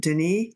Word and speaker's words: Dennis: is first name is spelled like Dennis but he pronounces it Denise stepanich you were talking